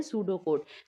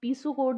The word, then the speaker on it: pseudocode: लेकिन इसकी जो प्रोनाउंसिएशन है वो है पी से स्टार्ट होती है। पी एस ओ यू डी ओ सी ओ डी ई यानी इसे हम पीसो कोड नहीं कहेंगे।